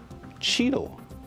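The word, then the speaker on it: Cheetle: they're covered in what's called Cheeto. What? It rhymes with beetle.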